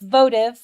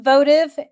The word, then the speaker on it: votive: v t i v yes uhuh so it's pronounced votive which I didn't know okay it's pronounced votive and it means an object offered in fulfillment